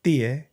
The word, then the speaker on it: Tiye: So her name is spelled Tiye, which if you take on the classic Egyptian pronunciation, it's Thea.